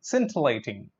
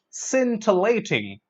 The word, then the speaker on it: scintillating: sin too late a sin to lay ting scintillating scintillating that is something fascinating or brilliantly clever which